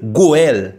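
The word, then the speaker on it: גואל: langue originale Bible la langue hébreu morcha il prononcé goel goel ça veut dire il rédempteur racheteur don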